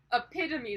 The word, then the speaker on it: epitome: Epitome.